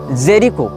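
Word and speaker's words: Jericho: है लेकिन इजराइल हो या फलस्तीन हो इसने जेरी को या जेरीचो जो भी इसका उच्चारण उ भाषा में किया जाता है जे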